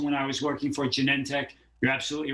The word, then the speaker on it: Genentech: Because I know that you worked at a company, which I believe I'm allowed to say is how do you say it? Genentech or? Yeah, Genentech. Okay, Genentech. Exactly.